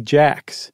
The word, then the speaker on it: Jacques: that was he married Amy Jacks spelled like Jacques who was a Kingston